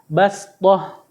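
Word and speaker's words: بسطة: ayat 69 juz 8 tulisannya basoh cara bacanya pakai Sin bastah ya Terus yang kedua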